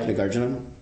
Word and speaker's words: Nagarjuna: One of the leading scholars who talks about that is a guy named Nagarjuna, or there's numerous ways to say his name. I like Nagarjuna.